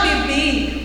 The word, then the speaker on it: beber: Verbo beber. Se fala beber, porque vocês não podem esquecer que a letra B em espanhol não tem pronúncia. Ele tem a pronúncia da letra B de uma maneira mais suave.